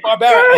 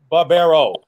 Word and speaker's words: Barbera: So we said Barbera, and the funny thing is, like, three quarters of my family pronounces our name as Barbero, right? So it wasn't that big of a deal to me that he, because within our family, there's different pronunciations and stuff.